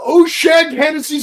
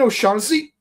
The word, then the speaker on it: O'Shaughnessy: Hey, Aaron, go to O'Shag Hennessy's office right now. You mean O'Shaughnessy?